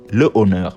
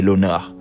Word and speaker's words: l'honneur: aspirer un h muet exemple j'ai l'honneur au départ j'ai le honneur mais on dit j'ai l'honneur parce que en ce